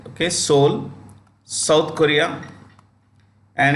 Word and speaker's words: Seoul: in a place called Seoul the E is silent okay soul Korea and its CEO